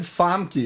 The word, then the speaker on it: Famke: awesome thank you so much now you said famke is that how that's pronounced you know it is it yeah i